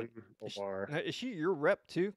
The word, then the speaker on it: Ilhan Omar: are going after AOC, and is her name Ilman or is that her name? I've never I'm actually, not good at pronouncing it. I've It's never like even pronounced it. Ilhan Omar.